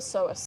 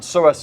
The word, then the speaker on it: psoas: And psoas is spelled with a P. That's Silent my P.